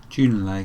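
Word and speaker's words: Junlei: engineer a lady named june lane tennyson june lay so there we go that's how we pronounce it i often listen to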